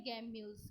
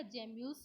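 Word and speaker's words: gemmules: So internal birds जो होते हैं स्पॉन्जिला में वो होते हैं गैम्यूल्स। क्या होते हैं बेटा, गैम्यूल्स होते हैं, या जेम्यूल्स भी हम इसे कह सकते हैं, ठीक है, प्रोनाउंसिएशन में।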